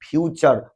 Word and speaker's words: future: फ्यूचर को फुटूरे पढ़ देते थे, नेचर को नाटूरे, प्योर को पूरे, श्योर को सूरे। तो बाद में पता चला कि इसका स्पेलिंग CSURE, तो श्योर, PURE प्योर, NATURE नेचर, FUTURE फ्यूचर, फुटूरे नहीं।